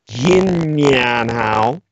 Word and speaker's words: Xinnian Hao: You can also use the shortened version, which is Xinnian Hao, like Good New Year, which is pronounced again slowly, Xinnian Hao.